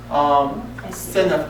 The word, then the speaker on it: Seneff: It's Seneneff, I think. Spell it again. Seneff, S as in Sam, E-N as in Nancy, E-F as in Frank, Seneff, Dr. Seneff.